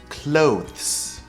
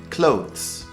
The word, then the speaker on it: clothes: articles of clothing also pay attention to the pronunciation clothes clothes clothes actually in my video about pronunciation this